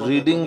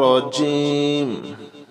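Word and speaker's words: ر: রাখবেন আউজুবিল্লাহি মিনাশ শাইতানির রাজিম বিসমিল্লাহির রাহমানির রাহিম আলিফ বা তাছা জিম হা খ অনেকে এটা খা বলেন এটা হবে কি খ দাল জাল র অনেকে বলেন রা এটা হবে র ঠিক আছে র জা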